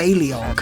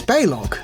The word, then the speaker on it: Baleog: Have Baleog punch targets by pressing C Baleog. and a direction. They pronounce his name Baleog. It's Balog. It's Balog. It's a two-syllable. It's two syllables, not three.